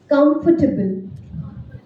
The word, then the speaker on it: comfortable: Comfortable. Not comfortable. Comfortable. Table. उसको break करके comfortable. Asked.